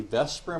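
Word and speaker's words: VSEPR: Chapter 10 deals with what's called the Vesper model of the atom. And the Vesper model is spelled like this.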